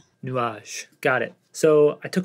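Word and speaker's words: Nuages: called nages I'm terrible at French how to pronounce nages nuage got it so I took a lot of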